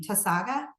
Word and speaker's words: Tausaga: Tausaga?